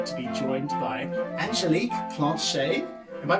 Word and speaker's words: Planchat: I'm very happy to be joined by Angelique Planchat. Am I pronouncing that correctly? Yeah, good job. How do you pronounce your last name? Angelique Planchat.